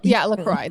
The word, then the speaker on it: LaCroix: LaCroix. That's what you're supposed to pronounce it as.